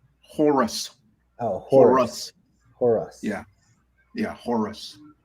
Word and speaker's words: Horus: And Horse? Jesus came out. Did you say horse? Horus.